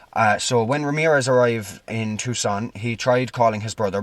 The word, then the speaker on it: Tucson: to Tucson, I believe it's pronounced, even though it's spelled Tucson. Tucson, Arizona.